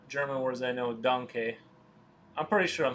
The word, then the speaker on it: danke: I drew like D&D characters, and I googled how to say thank you, and it's danke. That's like one of the 5 German words I know, danke.